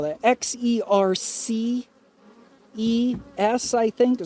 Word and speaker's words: Xerces: X-E-R-C-E-S, I think. Xerxes, like King Xerxes there, the Persian.